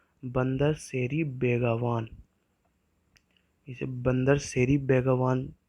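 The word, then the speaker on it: Bandar Seri Begawan: उसे कहा जाता है बंदर सेरी बेगावान, इसे बंदर सेरी बेगावान से प्रोनाउंस किया जाता है, और जो वहाँ की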